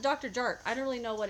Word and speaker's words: Dr. Jart: My boyfriend saw this morning and pronounced it Dr. Yart. I also know Lily Pebbles pronounced it Dr. Yart. I've always pronounced it Dr. Jart.